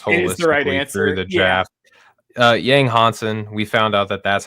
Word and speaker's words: Yang Hansen: Uh Yang Hansen. We found out that that's how we've been supposed to been pronouncing his name the entire time.